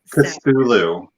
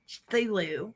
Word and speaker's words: Cthulhu: I know the folklore, but I've never known how to pronounce it. Cthulhu. Cthulhu. Cthulhu.